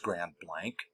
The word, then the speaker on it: Grand Blanc: It's spelled Grand Blanc, but I think it's pronounced Grand Blank, Michigan in Jese County.